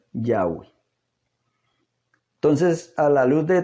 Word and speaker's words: Yahweh: este erudito en inglés como pronuncia el nombre del eterno y lo pronuncia yagüe entonces a la luz